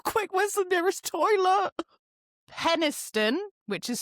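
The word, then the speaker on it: Penistone: Penniston, which is spelled penis stone near Sheffield.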